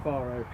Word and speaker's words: Faro: that's the next action small pronunciation correction here yeah I'm gonna stay with Faro not in Spain um south south of Portugal in what way was